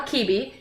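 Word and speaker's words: Cibi: So make sure you go check out Amor Kibi, and it's pronounced, with the C-I-B-I is pronounced Kibi in Latin.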